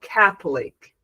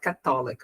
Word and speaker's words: Catholic: we say católico, so the stress syllable in Portuguese is to, but the stress stress syllable in English is ca. So, Catholic, Catholic, Catholic. Not Catholic, okay? Catholic. Ca- and then go down, Catholic.